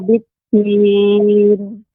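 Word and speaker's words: بالدين: Walaupun sedikit tadi ya, yang perlu lebih dilembutkan kembali huruf dal, biddin, tidak biddin ya, tidak dengan ujung lidah, akan tetapi dengan punggung ujung lidah punggungnya.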